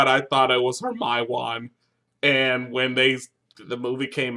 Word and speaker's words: Hermione: I didn't know it was Hermione.